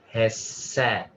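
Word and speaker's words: חֶסֶד: whenever you're ready okay has sat and indeed this one's a tricky one the accent is on the first part all right sorry so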